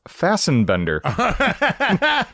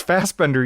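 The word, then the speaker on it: Fassbender: getting to hear Corey repeatedly pronounce fasten bender. It's fast bender you silly Uh good stuff here.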